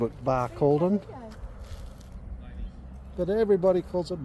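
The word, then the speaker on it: Barcaldine: on the way to tree of knowledge it's pronounced bar called din I thought so I always called it bar calleden but everybody calls it bar called on so it reminds me of that reminds me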